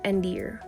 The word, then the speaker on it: Endear: And these are multicolor palettes from the brand Endear. Yes, I typed it correctly. Yes, that's how you pronounce the brand.